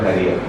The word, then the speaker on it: Harya: Because they pronounce in a different way, not Arya but Harya.